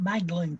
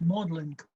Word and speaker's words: Magdalen: no neither either it's it's not modern it's not magdalen college it's modeling college modeling college so if